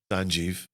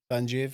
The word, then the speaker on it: Sanjeev: Was it a bad time to point out you've mispronounced my name for the last hour? Ever? You at it? Sanjeev. Sanjeev. I'll answer to Sanjeev, but Sanjeev. There you go. Aye. And